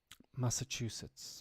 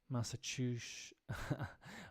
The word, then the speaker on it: Massachusetts: outside of New England that last s has the unfortunate tendency to turn into a sh sound Massachusetts okay so if you